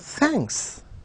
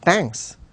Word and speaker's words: thanks: in the place of thanks well it is not tanks it is not water tanks that we are talking about we are talking about thanks uh thank you even